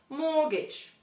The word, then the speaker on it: mortgage: Mortgage.